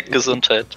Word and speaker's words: Gesundheit: Gesundheit? And did I say it right? Your oven? Yeah, Gesundheit.